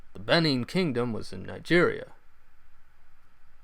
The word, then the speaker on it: Niger: Benin, Niger, which, yeah, I pronounce that with a soft J. It's like a French way of pronouncing the country's name. That's what I understand they prefer to, I think, is that they prefer to pronounce it Niger, though I could be butchering that pronunciation, who knows.